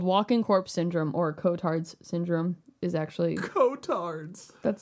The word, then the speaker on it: Cotard: walking corpse syndrome or Kotards syndrome is actually Kotards. That's his name. I could be pronouncing it wrong. C O T A R D. That's exactly how you pronounce it.